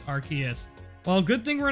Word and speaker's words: Arceus: the subs appreciate it in Japan it's pronounced RCS and in English it's Arceus well good thing we're